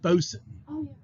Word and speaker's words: boatswain: w a i n it's not both swain or boatswain it's boson and then what do you